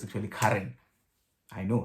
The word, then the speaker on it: Ciaran: It's Ciaran, because I'm seeing C-I-A-R-A-N, but turns out it's actually Karen.